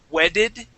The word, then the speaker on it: wedded: that that e uh it's no longer going to be an e sound it's a short I sound wedded okay and what's my